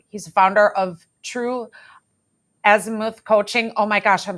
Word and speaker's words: azimuth: and you were very you were correct in the last pronunciation pronunciation it's Azimuth all the points on the